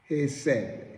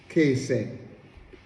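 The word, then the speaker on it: חסד: The word love, the Hebrew word for love, is word hesed. Hesed, it pronounced kesed.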